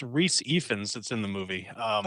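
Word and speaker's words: Rhys Ifans: something um that is actually uh pronounced not pronounced it's Reese epens that's in the movie um oh sorry about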